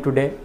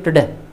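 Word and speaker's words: today: प्रश्न पूछा जा रहा है सीधे, टुडे जो हम उच्चारण करते हैं, चूंकि टू के बाद ये कंसोनेंट है इसलिए इसका उच्चारण होना चाहिए टुडे। Will it rain टुडे, टू लगना भी नहीं चाहिए और टडे भी नहीं लगना चाहिए कि बच्चे समझ ही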